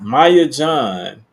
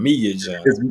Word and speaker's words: Mia John: What's it, Maya John? Maya Okay. John, was it Mia John? I don't want to say it wrong. Mia John. It's Mia.